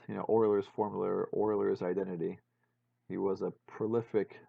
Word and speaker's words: Euler: being deafness still writing symphonies remembering that it's pronounced Euler right alright so and you can you can